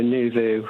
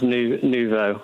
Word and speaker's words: Nous Vous: No, Nous Vous. Nous Vous, sorry. Everyone says Nouveau.